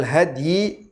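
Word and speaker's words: هدي: hadithi kitabullah wa khairal hadyi, di sini kalimatnya wa khairal huda huda Muhammadin sallallahu alaihi wasallam. Karena di sini ada dua cara baca. Bisa dibaca khairal huda, bisa dibaca khairal hadyi.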